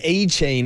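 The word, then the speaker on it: Achane: whether it was Devon a chain is the correct pronunciation the a chain you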